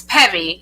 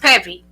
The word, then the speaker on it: Peavy: Samantha peave you can go there or it's Peevy it's pronounced pevy but a lot of people say PE but